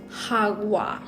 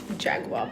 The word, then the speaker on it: jagua: mix some Jaguar also I found out what the actual pronunciation is um it's hogwa no it's not Jaguar but it's so hard to get into the practice of saying hagua so we'll keep trying